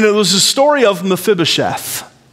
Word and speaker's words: Mephibosheth: I learned that through this study, I learned that we're pronouncing his name wrong. It's Mephibosheth. It has an I in it, but it's pronounced like two long E's. Mephibosheth.